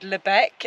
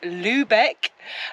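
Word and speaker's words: Lübeck: recently um for example we said Lebec and it's Lubeck um anyways so hopefully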